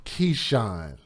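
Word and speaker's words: Keishawn: Keshan. Keshan is spelled K E I S H A W N.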